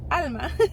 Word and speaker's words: Alma: And I pronounced my name Alma, you know, cuz the interaction was in English. And I remember my husband looking at me like, "Why are you saying it like that? That is that is so weird. Like, why are you pronouncing it like that?" Mhm. And I was like, "What do you mean?" Like, it didn't click. And then I was like, "Oh, Alma." And the girl's like, "Oh, Alma."